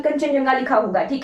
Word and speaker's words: कंचनजंगा: ठीक है, इसकी स्पेलिंग देख के, इसको पढ़ के ऐसा नहीं लगता कि कंचनजंगा लिखा होगा। ठीक है, इस तरह की स्पेलिंग है कंचनजंगा।